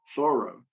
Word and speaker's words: Thoreau: mentored was henry david thoreau thorough uh i have to get the pronunciation right thorough uh who in his